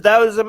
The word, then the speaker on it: Taoism: It's spelled with the T, but the T is pronounced with the D.